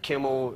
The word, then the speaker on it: Kimmel: If your name happens, unfortunately, to you're rhyme, lucky, like Kimmel, it only rhymes with nimble, symbol, and thimble.